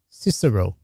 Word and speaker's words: Cicero: Okay, so just to be clear for all of us that fell asleep during history class, his name is Cicero. Yes. Okay, I think I pronounced his name wrong before that.